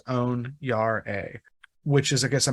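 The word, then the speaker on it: onyare: yard a o-n-i-a-r-e and the phonetic pronunciation they have next to it is own Yar a which is I guess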